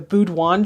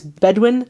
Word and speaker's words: Bedouin: And I think in the historical background I called it like the Boudouin tribes, but it's Bedouin.